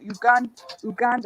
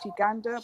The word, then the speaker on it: Uganda: was like, "Oh, you sound as if you're people from Uganda," and it's actually pronounced Uganda, but whatever.